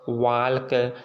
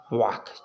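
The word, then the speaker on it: walk: टॉल्क, वाल्क, चाल्क, ठीक ना, ये सब ऐसे नहीं। टॉक, वाक, चाक, याक, फॉक, ये हमारा के पहले आने वाले अक्षर को हम साइलेंट पढ़ेंगे।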